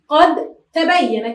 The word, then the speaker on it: قد تبين: مثاله قد تبين، كيف ننطق؟ نقول قد ت، قد ت، قد تبين، مهدت. الأصل أن نقول، يعني هو في التهجئة نقول مهدت، لكننا بسبب التجانس نقول مهدت، والدال لا ننطقها كدت، كدت.